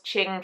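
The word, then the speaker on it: Qing: of Ching fibers but it's one of those words that if you've never spoken out loud and only seen it written down because it's q i n g um you're probably going to mispronounce it and I am the queen of mispronunciation anyway but it was Ching fibers was the main Booth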